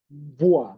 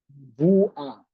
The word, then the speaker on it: mvua: You don't pronounce M as separate. You combine them.